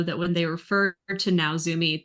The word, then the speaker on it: Naozumi: when they refer to Naozumi, they pronounce it like Natzumi.